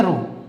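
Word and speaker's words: ρ: जब इस कांस्टेंट की बात करते हैं तो इसको प्रोनाउंस क्या करते हैं? इसको बोलते हैं रो।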